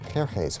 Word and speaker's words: Xerxes: Now, that was hard for the Jews to pronounce, so they said Ahasuerus. We know him as Ahasuerus. And the Greeks said Xerxes, which is Xerxes, okay?